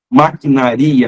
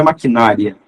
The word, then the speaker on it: maquinaria: um dia as bem maquinaria não é maquinária maquinaria não é maquinário é maquinaria tudo que tem tropo